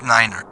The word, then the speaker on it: niner: that's what I learned you have to say Niner not nine because I know that's